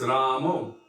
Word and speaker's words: Rama: more pleased by that who is ramo well that's the bengali pronunciation of rama because every at the end of all the us is a little bit of a rounding even in the